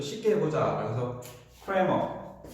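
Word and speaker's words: Cramer: 조금 더 쉽게 해보자라고 해서 크레머 우리 크라메르 공식이라고 책은 돼 있지만 저는 그냥 크레머라고 읽겠습니다.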